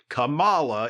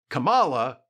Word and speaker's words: Kamala: and yes that is the correct way to pronounce it Cala is how you pronounce the name of FKA